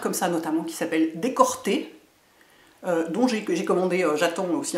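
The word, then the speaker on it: Decorté: l souvent comment dire c'est pas que le l se prononce r mais c'est que les deux sonorités sont extrêmement proches je pense qu'ils ont voulu l'appeler décolleté puis lui appeler décorter bon c'est dommage enfin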